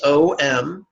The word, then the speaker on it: Om: In brackets, you'll notice the word home with the letters O-M, bold and underlined, which infers we pronounce the syllable Om as in the word home.